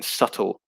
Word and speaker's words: subtle: p is not pronounced subtle is a very good one julie um yeah there's no b pronunciation is a uh in subtle so a silent b and subtle action says alice action